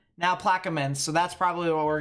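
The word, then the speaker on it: Plaquemines: all right so yeah people are saying now plaque men's so that's probably what we're gonna go with it's pronounced Ash instead of hatch Ash so Point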